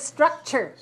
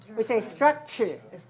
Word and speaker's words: structure: we see s-t-r-u-c-dot t-u-r-e a lot of words have t u r e like picture right in nature and we pronounce tr so we see look at struck and then sure ch sound structure structure so we don't say structure this is ending sound